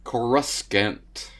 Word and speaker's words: Coruscant: said it exactly how it's pronounced, but with pauses. Coruscant.